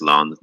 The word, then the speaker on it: Lens: Pretty sure it's pronounced Lons, by the way. I didn't know. Not a lens for a glass or something there.